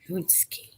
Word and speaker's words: paczki: Punchki. I mean, I don't need to okay, spell it.